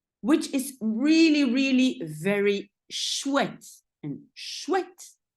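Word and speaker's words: chouette: pronounce it like but when you see it written look at it it's not all the same as what you hear is also a little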